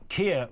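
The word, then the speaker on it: Keir: So Kia rhymes with two-tier, and it rhymes with free gear, and it rhymes with a load of other stuff.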